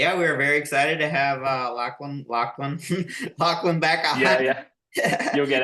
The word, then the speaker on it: Lachlan: I've never, I said it last time, I've never heard an American say my name like the way an Australian says it. It must just be like a difference in the accent, but it's always Lachlan, and Americans will always go Lachlan, Lachlan.